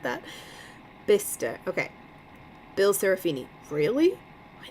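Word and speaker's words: Bicester: It's pronounced Bister. I was going to ask how it was pronounced. I'm so glad it said that. Bister Okay.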